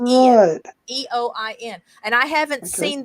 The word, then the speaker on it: Eoin: Erica in the chat shared with us that Ian, spelled Eoin, is an Irish variation, but it's still pronounced Ian.